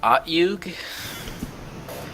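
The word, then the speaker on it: Otyugh: Is that pronounced Otyug?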